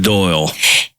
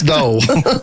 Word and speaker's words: Doyle: Okay, not Doyle. It's spelt Doyle. But it's Dole.